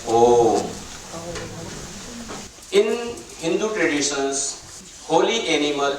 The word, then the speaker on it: Om: You can see here in the center, we pronounce that one as a Om.